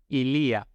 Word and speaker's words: ilia: Entonces, ili, el pronombre posesivo es ilia, con la i con el acento en la segunda vocal, no es ilia, como el presidente.